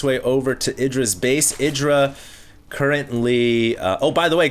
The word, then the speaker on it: IdrA: Idra currently... oh, by the way, guys, his name is pronounced Idra. Sometimes I pronounce him Idra. I know it's wrong, but yeah, his name is Idra.